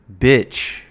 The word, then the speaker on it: bitch: And the focus here is on the I, which makes a short I sound. I, I. Just like in the words sit, it, sit, kid, id, kid. So it's the letter B and then the short I sound. B, B, and then CH.